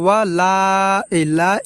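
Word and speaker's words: وَلَا: প্রিয় দর্শক, এখানে আমরা ওয়ালা এই জায়গা আমরা 3 আলিফ টেনে পড়ব এবং আনতুম এখানে আমরা এইভাবে গুণনা করব, আনতুম এইভাবে।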